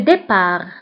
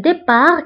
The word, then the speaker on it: départ: الانطلاق هو le départ. ضده الوصول أو l'arrivée. هنا بالنسبة لـ départ كنكتبوها بالت في آخر الكلمة ولكن لا تنطق.